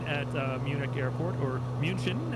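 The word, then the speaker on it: München: uh munich airport or munchin as the germans would say i'm sure i pronounced that horribly punchkin uh john that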